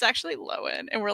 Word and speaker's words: Lohan: what did she change your name to loin lowen instead of lohan we would all say lohan and like never corrected anyone and then finally she was like um it's actually low end and we're like no it's not so